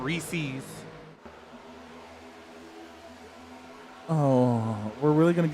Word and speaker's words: Reese's: It's Reese's, not Reese's.